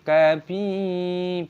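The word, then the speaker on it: كبيرا: Kabira, ba dibaca panjang, ra dibaca panjang, jangan dibaca sebagai ron. Mad, mad iwad, wa idza ra'aita tsamma.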